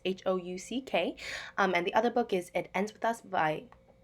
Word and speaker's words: Houck: One of the books is Tiger's Curse by Colleen Hook. I'm not really sure how to say her last name. It's Houck.